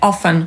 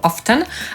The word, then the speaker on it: often: was na pewno zauważyli Podsumowując obecnie w języku angielskim spotkamy się z dwoma wariantami wymowy słowa Często Brytyjczyk Powie ofen lub often a Amerykanin ofen lub often niektórzy językoznawcy nie uważają formy z T za poprawną dlatego Najbezpieczniej używać tej bez ofen to często częściej